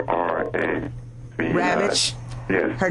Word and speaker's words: Ravitch: The author is Diane, I can't pronounce her last name correct, but it's R-A-V-I. Ravitch.